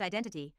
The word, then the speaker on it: IDNTT: The group's name is IDNTT, apparently pronounced Identity, which is a terrible name by the way.